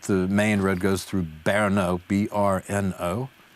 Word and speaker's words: Brno: to um but the main road goes through berno b-r-n-o berno is how it's pronounced uh a nice town in it's own